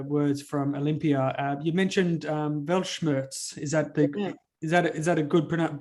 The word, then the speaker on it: Weltschmerz: Weltschmerz.